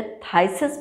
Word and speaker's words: phthisis: Tuberculosis को आम भाषा में कंजम्पटिवनेस भी बोला जाता है या थाइसिस बोला जाता है, जिसकी स्पेलिंग पी से शुरू होती है, PHTHISIS। तो थाइसिस जैसी कंडीशन में भी दिया जाता है।